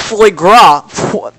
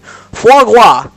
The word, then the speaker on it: foie gras: It's pronounced foie gras. No, that's not even how you pronounce it. Foie gras.